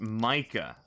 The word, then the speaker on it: Mica: Pronounced Micah. Oh, okay. Micah.